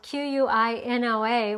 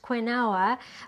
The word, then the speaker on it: quinoa: to show you how to make quinoa quinoa is spelled qu i n o a which would make you think that it was pronounced quinoa but it's actually pronounced quinoa and quinoa is